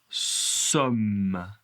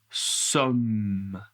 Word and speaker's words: sommes: Nous alors pour nous sommes nous sommes Ouais. Le S n'est pas prononcé et le M est très long, très long. Écoutez, nous sommes Ouais.